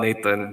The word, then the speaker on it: Nathan: Uh Nata Nathan both works to be honest. I change the pronunciation depends depending on the situation. Sometimes when you're playing, you don't want to think too hard. You just say Natan Natan. Natan. I think Natan is better, easier.